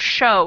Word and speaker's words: show: So show, not show, show. W is silent. It's not exactly silent, but it affects the vowel sound.